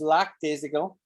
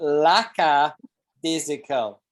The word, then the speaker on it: lackadaisical: pretty good first attempt you want to pronounce this a here so it's lacka right not just lactusical but laca dizzical laca yes so think of daisy you know what a dizzy is we flowers you know